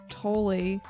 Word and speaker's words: Tolle: I'm reading a book called A New Earth by Eckhart Tolle. It's pronounced Toll.